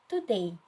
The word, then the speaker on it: today: pronounce it today or today of course it's the second one which is today the stressed syllable is in the second part also the next slide